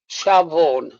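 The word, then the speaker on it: Siobhan: Kev's telling me how to pronounce it. It's Shavon. Funny enough, Vaughan was brother number 2.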